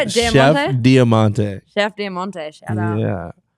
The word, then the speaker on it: Diamante: Diamante.